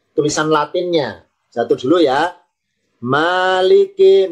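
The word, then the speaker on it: مَالِكِ: Maliki mimnya fathah. Maliki panjang. Maliki. Ya, maaf ya. Maliki. Maliki artinya ditambahi yang yang memiliki Maliki artinya yang memiliki. Tulisan Maliki. Kalau tulis latinnya Maliki. Maynya panjang, huruf A-nya doble.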